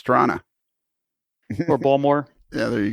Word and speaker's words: Toronto: Yeah, and it's not Toronto, it's Toronto.